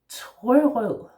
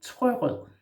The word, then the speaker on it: Trørød: And Trørød consists of the syllables trø and rød. Yeah? So trø is with a slashed O and rød is also with a slashed O or a broken O.